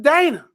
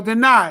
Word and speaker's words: Dinah: These were the ones who slept with Dana. Or Dinah, however you want to pronounce it.